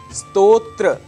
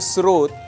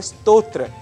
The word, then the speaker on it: स्तोत्र: बताने वाला स्तोत्र है स्तोत्र यह इस शब्द का सही उच्चारण है कई बार अनजाने में हम इसे स्रोत या स्तोत्र या स्तोत्र कह जाते हैं लेकिन इसका सही उच्चारण है स्तोत्र यहां हमें शुद्धता का